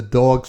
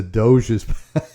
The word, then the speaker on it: Doge: or is my mother-in-law pronounced the dog's palace i'm like no no ma it's the doge's uh i i i